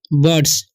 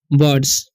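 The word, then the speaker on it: birds: ब, और आई का उच्चारण यहाँ पर अ होगा। ठीक है, तो इसे हम पढ़ेंगे ब। ठीक है, और आर डी एस, तो इसे हम पढ़ेंगे बर्ड्स।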